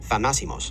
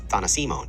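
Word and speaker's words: θανάσιμος: So for the record, the adjective deadly is pronounced thanasimos, with a stress on the antepenultimate syllable. Dr. Hillman mispronounces it as thanasimon in the phrase something deadly, thanasimonti, which he thinks is a drug.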